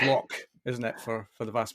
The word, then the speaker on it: Loch: my roots, because obviously nobody in the world can pronounce Loch like a Scots person. It's Loch, isn't it, for the vast majority? Let me give it a try. Loch.